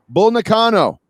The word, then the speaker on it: Bull Nakano: Bull Nakano.